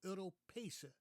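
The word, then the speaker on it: Europees: European EUR stress that the way I learned that word was on the second syllable europes when I listen to Dutch politicians now I hear many of them say with the stress on the first syllable now who's going to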